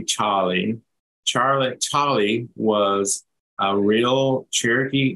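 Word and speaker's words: Tsali: and blown away so it's actually pronounced in Cherokee Charlie Charlie was a real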